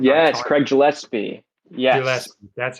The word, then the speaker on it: Gillespie: Gillespie, that's how you pronounce it.